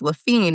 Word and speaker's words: Laffin: my last name, and I said it's Laffin, it rhymes with mean.